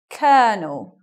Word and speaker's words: colonel: It's So even though it's olo here, it becomes Colonel. Colonel. Sounds very different maybe to what you expect it to be.